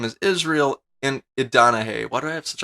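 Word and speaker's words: Idonije: I said his name wrong first, didn't I? His name is Israel Idanahe.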